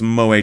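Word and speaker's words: moe: possess who possess who possess such traits pronounced mo. So it's moa two syllables like not like moas in mo tavern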